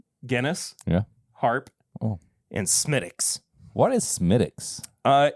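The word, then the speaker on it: Smithwick's: Stouts it was Guinness yeah harp oh and smiix what is smiix uh it's an Irish Red Ale okay it's spelled Smith Wicks Smith Wicks yeah oh okay but it's it's pronounced smiix gotcha cuz it's Irish and their language makes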